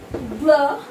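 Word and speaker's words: bleu: So, blur. The pronunciation in Hindi, blah.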